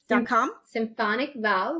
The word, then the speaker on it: Symphonicval: Symphonic Val, like symphony, right?